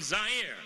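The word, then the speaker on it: Zaire: coming to you live from zire some would pronounce its air they're wrong it got big laughs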